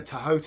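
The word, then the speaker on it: Thoth: but it's interesting that in the tohote OR Toth however you like to pronounce it justice is actually not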